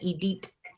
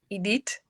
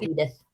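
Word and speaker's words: Édith: As my French teacher said, Edith. Edith, but they don't pronounce the T. They're not good at that. Edith. Like we all know her as Edith.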